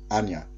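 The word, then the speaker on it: Anja: Yeah, usually if you see a name like that, J is pronounced as a Y for names that kind of look Scandinavian or anything like that. Thank you, Anya.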